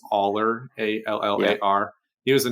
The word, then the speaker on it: Allar: I don't know how to pronounce his last name. It's Allar, Allar.